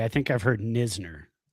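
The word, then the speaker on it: Knizner: The KN So, you have the silent K and then the ZN in the same name.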